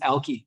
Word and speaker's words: Alki: the first called that, it was pronounced Alki. And this debate raged in as recently as the 1940s and 1950s. There's newspaper articles about what's the correct way to say ALKI, which and Alki, it's like a joke, right?